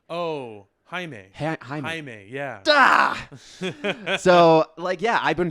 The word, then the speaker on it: Jaime: I was pronouncing Yame Reyes, because I always pronounce it as Jamie. Oh, Jaime. Jaime, yeah.